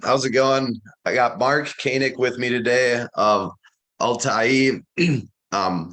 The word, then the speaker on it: Mark Koenig: from there all right well my name is Mark Koenig thank you for pronouncing it right uh you know there's a